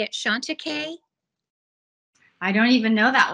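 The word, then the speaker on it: Chantecaille: do you say it Shanta k I don't even know that one yeah it ends with e-l-l-e it might be a French word that's how I've pronounced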